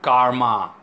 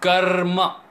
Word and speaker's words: karma: sister hello he knew karma not calm Karma it's Karma so you have to roll the are and say karma not Karma Satya and not Satya such